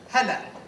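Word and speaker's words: هلا: Okay. So let's start with a very basic phrase. Hela. Hela. Try to say it after me. Hela.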